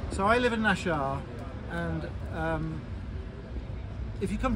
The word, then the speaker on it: Naxxar: hello we're in Malta we're in nashar nashar is spelled n a XX a r this is